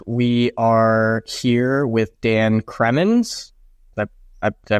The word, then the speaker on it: Cremons: and this week we are here with Dan kremin I did I pronounce that correctly nailed it cool awesome welcome